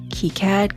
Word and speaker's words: KiCad: cat and why key cat always it's always kead and if you the pneumonic that I keep